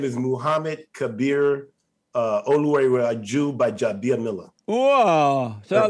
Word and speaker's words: Gbaja-Biamila: The G is silent. So, so if you take the D out, Gbaja-Biamila.